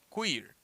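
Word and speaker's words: queer: teoria cuir Queen ok que o er se pronuncia quir no quarto tópico vou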